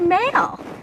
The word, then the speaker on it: mail: So we have the word mail. When two vowels go walking, the first one does the talking, and the second one is silent. And the first one makes the long sound.